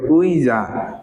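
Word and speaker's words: 의자: আতে কি আকার তাইলে এখানে আমরা আকার দিব উইজা উইজা অর্থ কি চেয়ার তারপর দেখেন আর দুই একটা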